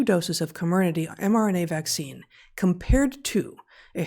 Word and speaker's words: Comirnaty: Comirnaty, which I also never know how to pronounce, the Pfizer vaccine. I thought it was Comirnaty, but... Comirnaty? Okay, I'll start over. I'll go with Comirnaty.